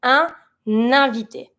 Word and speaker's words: invité: Keep in mind, every time you have an I that has an accent at the end of the word, you're going to pronounce it. So in this one, invité finishes with an I that has an accent on it. I'm going to pronounce it. And it starts with a vowel, so I'm going to link it with the consonant that's in the pronoun.